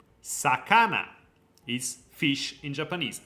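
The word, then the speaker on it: さかな: Japan so yeah then we have fish s Sakana is fish in Japanese Sakana s Sak s Sakana s Sak s fish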